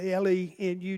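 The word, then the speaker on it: Lenud: It's spelled L E N U D, but it's pronounced Lenu.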